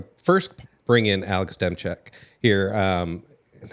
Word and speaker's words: Demczak: first bring in Alex demek here um and I already pronounced it wrong it's no you said it you said it right did I say it right yeah hey as long as